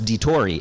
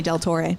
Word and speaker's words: DiTorre: But the reason he does that is because he was getting my name wrong and I corrected him. I said, it's DiTorre. And then he started doing that. Don't call me Del Torre.